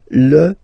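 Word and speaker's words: fils: So, it's L and then even if it you've got this L. Well, basically you don't pronounce it and then strangely you pronounce the final S. Lis l.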